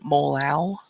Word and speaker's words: molal: It was 1 molar, it's 1.1 molal. That's how you pronounce that.